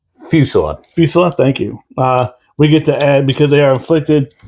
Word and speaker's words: fusillade: Blistering Follisade? Fusillade.